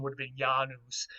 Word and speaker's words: Janus: pronunciation would have been janus like that with more of a y sound than a j sound uh he was the